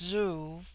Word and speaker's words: zu: On the other hand, z, when an initial, is with them a sound in which the breath is sucked inward, and thus zu, pronounced zoo, which in their language